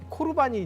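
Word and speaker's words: קרבן: 하냐면 코르반 선언하는 거예요 코르반이 이제 우리 성경 고르반 돼 있는데 이게 뭐냐면 레위기에 보면 하나님께 드리는 양이나 소 이것이 하나님께 대해 예물체물 이걸 히브리어로 코르반 이렇게 발음을 하잖아요 그래서 레위기 1장 2절에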